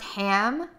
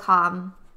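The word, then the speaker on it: Hamm: It's pronounced ham. Nils Ham. Oh. I'm sorry. I thought it was Hom.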